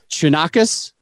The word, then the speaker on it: Chonacas: is spelled C H O N A C A S and it's Shinakus.